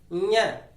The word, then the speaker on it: ञ: उच्चारण इसका फिर से सीख लो, ञ।